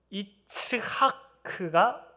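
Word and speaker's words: יצחק: 이것을 이삭이라고 우리가 부르는데, 너츠 할 때 이 츠하크가 좀 더 명확한 발음입니다.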